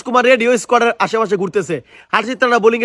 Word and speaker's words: হর্ষিত রানা: বলছি দাদা, ওটা হারজিত রানা নয়, ওটা হর্ষিত রানা।